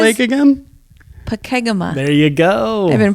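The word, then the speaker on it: Pokegama: Pakegama.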